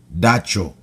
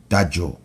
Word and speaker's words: dacho: Well, we have a word in Creek, and it's pronounced dacho. And you can also pronounce this CH sound with a J. Okay? Dajo.